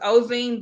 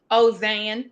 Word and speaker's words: Ozane: So now it's Ozene, but in Louisiana it's spelled different and it sounds different. So how they say it in Louisiana? Ozane, like with an A.